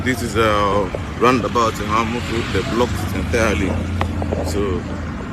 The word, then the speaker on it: Eha-amufu: This is a roundabout in Eha-amufu.